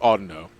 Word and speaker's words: Audino: pronouncing Pokemon incorrectly I I've said all Dino for years but apparently it's pronounced Audino oh god experiment I